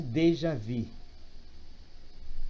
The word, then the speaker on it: déjà vu: Mas como é francês, então pronuncia-se déjà vu.